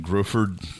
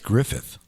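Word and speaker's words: Gruffudd: Ian Griffford. Griffford. How did I How bad did I butcher that? I think it's Griffith. Griffith. Even though it's not spelled that way at all.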